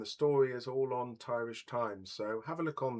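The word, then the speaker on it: Thairish Times: Mark says, "Okay, so um, if you go to Tyrish Times, that's spelled T h ai as in Thai and then rish as in Irish.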